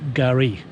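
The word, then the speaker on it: K'gari: In fact, the Aboriginal name for Fraser Island is Kagari. Actually, it's pronounced Gari, and that means paradise.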